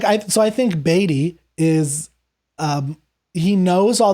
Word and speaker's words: Beatty: do you pronounce it i pronounce it uh baby i think baby's probably audiobook robbins was in the audiobook and he said beatty so i trust he is correct and the player we'll